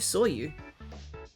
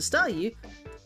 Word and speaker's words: Staryu: was still just a Staryu, I could never pronounce its name right, it always ended up sounding like saw you.